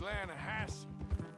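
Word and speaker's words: Lannahechee: The Lanahatchee. It runs right near here. Yeah, but it's pronounced Lanahatchee.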